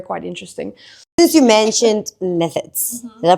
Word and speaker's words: gnathids: Since you mentioned gnathids, did I pronounce it right? I think it depends on how you want to pronounce it, but gnathids is generally what we call them.